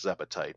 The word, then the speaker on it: Zebetite: And I usually often refer to those with the full 3 syllables, Zebetite, because Zebs are another enemy in the game.